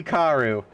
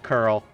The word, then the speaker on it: Querl: It can't be Karu. Why am I typing Pokemon? Final Fantasy. Pronunciation. How do you pronounce Querl? It is pronounced curl. Cool, got it. Yeah, it's just curl.